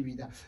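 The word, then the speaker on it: Ouidah: sur internet vous voz ce que ça signifie wida wida c'est l'une c'est une très très belle ville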